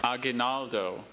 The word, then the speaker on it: aguinaldo: You heard Andrew's pronunciation with a little more Spanish flair than Dr. Bailey's.